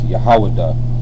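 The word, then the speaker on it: יהודה: like the tribe and we should know how to say Judah in the lashan kadash which is yahaw which means praise you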